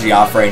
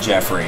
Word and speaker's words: Geoffrey: No, it is not Jeffrey. In the sequel to this game, there is not voice acting, but there is a narrator. He pronounces it Geoffrey. It is, in fact, Geoffrey, not Jeffrey. I know this for a fact.